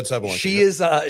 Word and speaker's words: Sabalenka: I pronounced that right? Yeah, Sabalenka.